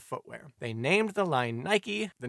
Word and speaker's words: Nike: own line of Footwear they named The Line Nike the name of the Greek goddess of Victory although said goddess's pronunciation is more like Nik as for their now iconic logo they used